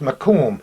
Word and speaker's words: Macomb: headquarters as we're told it's called mur is pronounced Macomb anyway it was a frame house facing Bridge